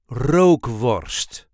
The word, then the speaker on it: rookworst: There is a light emphasis on the first syllable. Rogue worst.